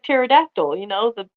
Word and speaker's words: pterodactyl: no but it's like pterodactyl you know the the p is silent yeah I wish mine